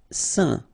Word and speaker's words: sain: Sain. Okay, combination of A, I, N, phonetically will give you this un pronunciation.